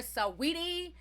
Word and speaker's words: Saweetie: And I believe her name is pronounced Sweetie, but I always call her Saweetie.